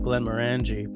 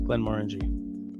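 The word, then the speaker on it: Glenmorangie: you pronounce this uh I would call that Glenn moreni um when I first got into whiskey I would have called it Glenn marangi but that is wrong it's Glenn Mori oh I saw that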